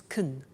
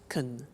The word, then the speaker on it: can: can speak spanish now notice the pronunciation of can becomes kun she can she can speak spanish he can play tennis we can speak german all right so can becomes con when we speak now the negative form